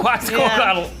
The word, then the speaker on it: Quetzalcoatl: Oh, I was gonna say Quetzalcoatl. Oh, that's a good one. Quetzalcoatl? Quetzalcoatl. Is that a Final Fantasy Coca-Cola. It's pronounced Quetzalcoatl.